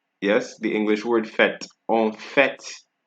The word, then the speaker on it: en fait: En fait. Right? This is an exception for T.